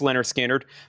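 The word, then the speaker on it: Lynyrd Skynyrd: This is pronounced Leonard Skinnard.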